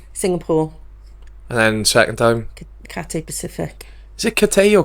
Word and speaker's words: Cathay: Oh, it's not Cathay. No, it isn't, Jed. No, it rhymes with cafe. Cathay.